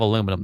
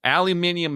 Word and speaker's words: aluminium: recall they don't have aluminum there they have aluminium which I'm Pro aluminium aluminium is how you should pronounce it aluminum sounds weird false yes it does it